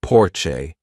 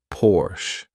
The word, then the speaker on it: Porsche: hum by the way some Americans say Porche which I think is really wrong because the car is produced in Germany and in Germany you say Porsche if you press in